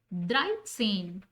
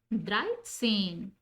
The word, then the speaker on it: dreizehn: Like 3 is drei and 10 is zehn. So we call it dreizehn and pronounced it dreizehn.